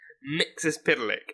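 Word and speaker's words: Mxyzptlk: I'd just be like, just not getting anywhere near the actual pronunciation, and then hearing him say the name, Mixes-Spitalik.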